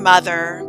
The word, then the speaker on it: mother: and straight and debt a moth is not a moth in mother nor both in bother broth or brother and here is